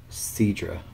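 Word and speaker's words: Sidra: So pretty much what has happened is the God of Destruction's Quetella, and then Universe 9, Cedra, that's how you say his name, they came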